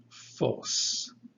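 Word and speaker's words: φῶς: But in this letter, in this word rather, the middle letter gives us the O sound coming from omega. And this is pronounced phos.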